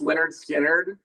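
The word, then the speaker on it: Lynyrd Skynyrd: out of the blue it's pronounced Leonard skinnard okay that was first like first first learning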